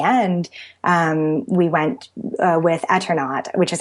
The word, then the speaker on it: Eternaut: and in the end um we went with eternaut which is how I pronounce it um e and and I pronounced it etern not because one of my main arguments for etern